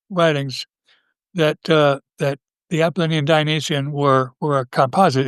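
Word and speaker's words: Apollonian: The appalinian being Nisha's pronunciation and spelling. By the way, uh most people say appalonian, but I'll use Appalinian in in uh recognition of Nietze.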